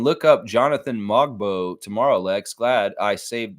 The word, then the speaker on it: Mogbo: Mogbo.